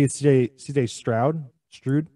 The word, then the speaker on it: Stroud: Strude? How do you say that? Stroud.